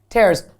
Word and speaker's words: terrorism: three days because I couldn't say terrorism which is four syllables in one terrorism right terrorism counterterrorism task